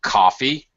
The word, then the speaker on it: coffee: one syllable for example coffee is stressed on the first syllable cough coffee it has greater prominence than the second syllable we'll talk about specifically